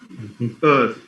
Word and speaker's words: Earth: Because the R is silent. Earth. It's E-A-R-T-H. Now the R is silent. We end up having one sound, which is th sound.